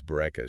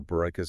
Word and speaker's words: Bourekas: I know, like when she explained how to pronounce Bourekas, she compared it to saying boo like a ghost.